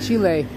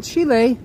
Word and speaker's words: Chile: avocados Chilean avocados are awesome so welcome from Chile I know I know people that pronounce it chili but it's not pronounced chili It's pronounced Chile unfortunately my Spanish is a